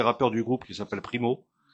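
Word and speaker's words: Pimo: En ce moment, ils s'occupent de la promotion de l'un des rappeurs du groupe qui s'appelle Primo P I M O. Voilà comme ça se prononce.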